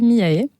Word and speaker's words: Miaé: nom d'artiste j'ai choisi miae et j'ai rajouté un e parce que il y a un e dans Marie qui se prononce pas donc soit on peut dire Mia soit miae al j'aime bien parce